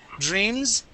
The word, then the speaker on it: dreams: So I say dream. And knocks. Okay, when I pronounce that S, I really enunciate the S more. Okay, dreams is more of a closed off Z. I don't vibrate it as much.